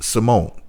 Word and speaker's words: Symoné: It's pronounced Symone. The accent mark is silent.